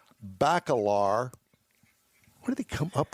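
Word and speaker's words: Bacalar: Balar has got to be pronounc pronounced different than what you're saying. Probably Balor. But at any rate, there it is right there. The Bentley Balar. B- A C A L A R.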